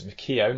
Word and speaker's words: McKeown: To be fair, I don't know if my granddad was drunk or whatever, but it's a bad pronunciation of the spelling, but he's meant to be McKeown, so I'm told.